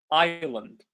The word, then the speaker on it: island: It's not Iceland, it's island. Island.